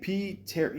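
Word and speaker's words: Pterri: Piteri, yeah, okay.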